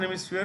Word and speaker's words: hemisphere: There is no P, there is an F when you pronounce it, sphere.